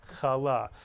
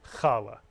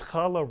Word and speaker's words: challah: Allah Mitsu yong-chol ah in Sephardic Hebrew the accent would be on the second syllable Allah many people say Carla but it's challah one no but if